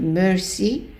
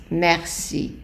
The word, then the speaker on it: merci: So the reason for that is that the E, or which is the E in French, followed by two consonants, with few exceptions, the E is pronounced as an A.